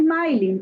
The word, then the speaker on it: Maylin: Es Maylin, pero bueno, mi madre, ella como buena camagüeyana insiste en que no se pronuncia Maylin y no le puso acento, pero Maylin.